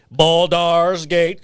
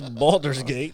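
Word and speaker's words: Baldur's Gate: your ass was like bald st's gate three and I was like no that's not how you say it it's balder's gate that's how we say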